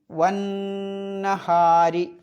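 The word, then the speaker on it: وَالنَّهَارِ: പിന്നെ വന്നഹാരി. ആ വാവ് കഴിഞ്ഞിട്ട് അലിഫിന് ഉച്ചാരണമല്ല, ലാമിനും ഉച്ചാരണമല്ല. ലാമ് ശംസി ആയതുകൊണ്ട്. പിന്നെ നഹാർ എന്നുള്ളത് എന്ത് ചെയ്യണം? ഉന്നത്തോടു കൂടി പറയണം. അപ്പം എങ്ങനെ ഓതണം? വന്നഹാരി.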